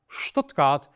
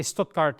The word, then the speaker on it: Stuttgart: When you have the combination S and T, and it's at the beginning of the word, it is almost exclusively st. So the T remains, but instead of S, it's sh.